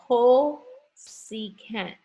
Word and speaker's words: cosecant: It is the cosecant. This is the inverse of sine, cosecant. And when we write it out, we write it as CSC, okay? Cosecant when you pronounce it out.